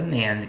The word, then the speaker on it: NAND: So it's pronounced a NAND gate.